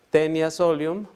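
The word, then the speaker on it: Taenia solium: o tenias ají nata aunque se escribe de esa manera está genia se pronuncia siempre tenía solium o tenias vagina está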